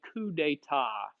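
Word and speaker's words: coup d'état: When you attempt to illegally take over the government, it's called a coup d'etat. C-O-U-P and then D'-E-T-A-T. A coup d'etat. Right? You do not pronounce the final consonants in French words.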